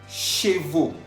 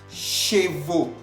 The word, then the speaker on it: chevaux: Chevaux. Chevaux. Estamos viendo que chevaux está escrito al final con la A-U-X. A-U-X, que se pronuncia O.